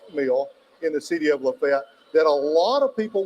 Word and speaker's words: LaFayette: great job on Lafayette it's good it's good to hear Lafayette that's the way you pronounce it Lafayette I don't know where this Lafayette stuff came from even though we do